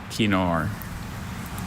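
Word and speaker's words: kinnor: Kenor Kenor. May are there any alternate pronunciations?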